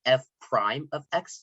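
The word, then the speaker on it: f′(x): down derivatives the most and it's um it's pronounced f prime of x so it's written f um this apostrophe symbol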